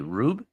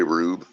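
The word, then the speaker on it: Roub: how you doing um how do you say this color r-o-u-b rube what's up bro what r-o-u-b yeah I'd say rube yeah what's up rube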